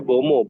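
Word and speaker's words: Mbeumo: Embuemo Kenapa ke tuh? MU katanya Felix. Lu gimana ngelihat Embuemo kayaknya bakal main di Bomo. kanan nih. Embuemo ya kan? Bacanya Bomo, Bomo. Bomo. Bomo, Sorry, Bomo.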